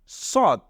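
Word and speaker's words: ص: হয়ে যাচ্ছে প্রথমটায় নুক্তা নেই এটাকে আমরা বলবো সদ এটাকে আমরা বলবো সদ এখানে আমরা দেখছি যে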